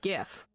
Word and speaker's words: gif: mspaint no i mean gif it's not pronounced jiff like the peanut butter um the ato tuber